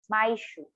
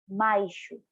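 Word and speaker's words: 毎週: So when you want to say you're doing something every week, it's my shoe. Again, my shoe. One time again, slowly per syllable. My shoe. My shoe.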